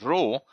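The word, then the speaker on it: rho: this 64 is correlation correlation is represented by Greek symbol row which is in English when we pronounce we pronounce it as row and uh it's in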